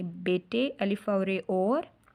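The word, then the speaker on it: بیٹے: आगे है बच्चों शाबाश बेटे और खुशहत बनो, शीन अलिफ शाह बे अलिफ बा शीन शाबाश, बे ये टे बड़ी ये टे बेटे अलिफ और और, हे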